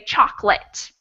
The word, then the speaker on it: chocolate: when we pronounce it most american english and even british english speakers will just say two syllables they'll say chocolate and it's not the